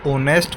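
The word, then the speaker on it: honest: ए ऑनेस्ट मैन अब जब आप ऑनेस्ट को पढ़ोगे बच्चों इसमें ओ की आवाज से शुरू होता है क्योंकि एच इसमें साइलेंट होता है। एच की आवाज यहां पर नहीं आती।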